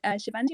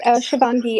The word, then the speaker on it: Shangi: with my pronunciation but Shandi would you like to ask your question thanks it's shangi and I'm not a